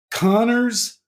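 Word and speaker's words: Kanner: think that Connor and Asperger and it is pronounced Connor even though it looks like caner but um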